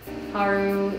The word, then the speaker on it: Paru: why is it called haru is a pronunciation of pearl in japanese we thought it was